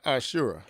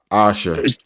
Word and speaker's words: Asha: Is it Asha or Ashura? Asha. Asha. I thought it was a URA.